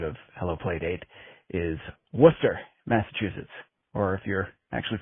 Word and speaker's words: Worcester: Not Wararchshire, Mass, but Worcester.